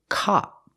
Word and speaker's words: cop: And the second word is cop. It's more open, cop, like hot and stop, cop.